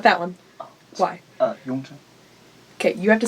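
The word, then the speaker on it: Yongzheng: Yongzhen. Okay, you have to say it loudly. Project the name. Yongzhen. That. Okay, that emperor. yeah. Who I pronounce Yongjung. Yongjung, but you got it right.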